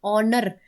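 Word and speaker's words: honour: आप देखो वर्ड को हम पढ़ते हैं ऑनर, जहाँ पे आवाज किसकी आ रही है, ओ की। और किससे हमें ऐसे लग रहा है कि वर्ड कहाँ से शुरू हुआ, कि एच साइलेंट है और वर्ड शुरू हुआ है ओ से, ठीक है।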